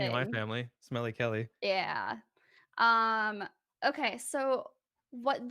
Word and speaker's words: Kelly: It's really disappointing that my name rhymes with the word smelly. Um, It's my I last know name that's not too. the point. That's Smelly true. Kelly.